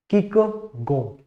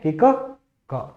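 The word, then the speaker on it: Kierkegaard: इसमें राइटर जो है, एक है इस इनका प्रोनाउंसिएशन भी थोड़ा सा है, इनको किस तरीके से प्रोनाउंस करेंगे वो देख लेना, किक गो, ठीक है, किक गो, the father of existentialism, important question है।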